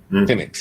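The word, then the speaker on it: Penix: in it was uh Penn. Did I say it right? Phoenix. Yeah. Yeah. Yeah. You're not the only person in America that's messing that one up right now.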